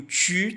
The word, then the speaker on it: tu: E aqui o tu tem o biquinho. Lembra como é que pronuncia o biquinho? Faz o bico, ó, e fala a vogal I. U. Falando tu. Tu.